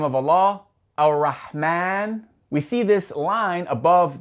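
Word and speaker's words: الرحمن: And that line is a dagger alif, indicating that after the Mim, after that M sound in the name Ar-Rahman, we're going to pronounce an alif. There's an A sound, Ar-Rahman.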